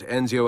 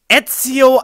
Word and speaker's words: Ezio: We have therefore come to the conclusion that Enzio Auditore da Firenze would be a risky character to develop. Ezio Auditore da Firenze, please! Ezio, how can you mispronounce the name so hard?